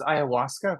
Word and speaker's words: ayahuasca: It's pronounced ayahuasca, but it's okay.